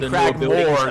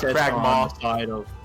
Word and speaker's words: Cragmaw: Okay, see, now that I see how you spelled it, I just realized that I was saying it wrong all the same anyways, holy shit. I was saying Cragmore, not Cragmaw. Sorry.